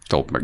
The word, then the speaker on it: Stuhlbarg: And the all-star of the entire Oscar season is Michael Stuhlbarg. Did I say it right? Stuhlbarg, yeah.